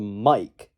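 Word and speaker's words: Maik: throughout the game called mike then that is spelled m-a-i-k mike not m-i-k-e which is how you actually smell spell mic or microphone mic whatever you get the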